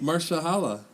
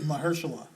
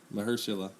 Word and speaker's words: Mahershala: Did I mispronounce his first name? What did you say? Marshala. No, that's not right. Yeah, that's right. Mahershala. That's right. Mahershala.